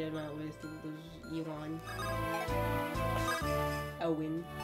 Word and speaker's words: Owen: Owen. I pronounce it Ewin on my first run.